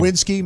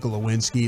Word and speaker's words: Glowinski: Lewinsky, my guy Lewinsky. Yeah. Broadus was calling him Lewinsky. I called him Lewinsky. I said Glowinski the second time. I didn't say it right the first time.